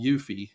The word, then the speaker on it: eufy: through my research was um this system called yui and it's spelled EU FY and this is the camera